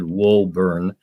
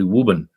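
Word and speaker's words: Woburn: b r n which somebody would have said wurn but it was actually wuben Wu yeah the one that gets my wife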